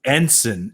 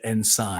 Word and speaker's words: ensign: Aisha, I have to correct you on the pronunciation of the character. It's a very obscure naval rank. Okay. It's ensign instead of ensign.